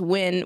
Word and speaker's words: Nguyen: How to pronounce Win, which is a common Vietnamese last name. Maybe. Yeah. I'm not sure. But it's like spelled like N-G-Y-U-E-N, I think, or something close to that.